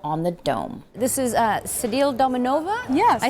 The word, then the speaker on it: Sedile Dominova: This is Sedile Dominova?